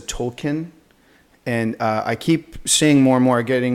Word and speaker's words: Tolkien: all my life I always I've always said Tolkien and I keep seeing more and more getting more and more verification that the correct pronunciation is told Keane yeah and so I've been trying it sometimes